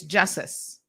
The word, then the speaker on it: Justice: So over the weekend, again, our condolences goes out to, I think his name is properly pronounced. I was saying Jesus, but that's not his name. It's Justice Ebanks.